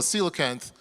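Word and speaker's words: coelacanth: It looks weird, the spelling, but it's called a cilocanth.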